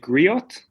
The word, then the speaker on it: griot: do you pronounce the is it griot G yes G okay well yeah so